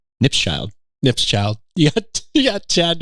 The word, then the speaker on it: Knipschild: I think you pronounce it, it's like cheese nips, but with a child. Knipschild. You got Chad Knipschild, who's an awesome person.